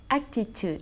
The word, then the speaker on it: attitude: ¿Y cómo se pronuncia? Attitude.